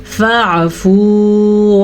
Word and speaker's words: فاعفوا: عین کے تلفظ کا دھیان رکھنا ہے. عین اگر ہم واضح تلفظ کے ساتھ ادا نہیں کرتے تو پھر وہ حمزہ یا الف بن جاتا ہے. یعنی کہ اگر کوئی پڑھے گا فا فو، اس نے تو الف مدہ بنا دیا، جبکہ یہاں پہ